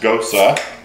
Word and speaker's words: Gose: trumpet most trumpet most cosa and yes it's pronounced Gotze this style of erudition brewed with heavy use